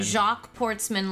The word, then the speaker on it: Jacques Portsman: Jacques Portsman. Like Jock sportsman. Yes. that it's funnier to pronounce. We can say Jock Portsman, but it also still doesn't Jacques Portsman.